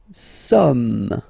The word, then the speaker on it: sommes: Nous sommes. Okay, nous sommes. Okay, so you don't pronounce the final S here, it doesn't exist. Sommes.